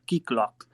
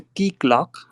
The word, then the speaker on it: Keycloak: Obviously, if you want to contribute on Java, I will suggest you the project called Keyclock.